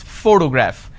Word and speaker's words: photograph: this particular word photograph the correct pronunciation is photograph which means i am stressing on this particular syllable which is the first syllable please give me the